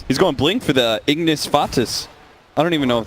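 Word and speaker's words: Ignis Fatuus: He's going blink for the Ignis Fatus. I don't even know if that's how you say it, by the way. Ignis Fatus, it is.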